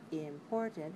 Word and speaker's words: important: in english we have words like important has three syllables we want to make the stress syllable the second one right it has to